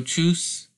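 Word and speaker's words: Tschüss: wiedersehen danke Schon so truce it's sort of weird way that it's spelt but the pronunciation is basically like the T and s are silent and you're saying CH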